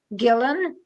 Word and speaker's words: Guylaine: So it's pronounced Gillen, but it's written in a French way, because everyone knows I have a French background.